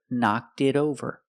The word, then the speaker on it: knocked it over: So I can say, the bird knocked it over. Pronunciation, the T in it is a fast D because it's between vowels. So together, knocked it over.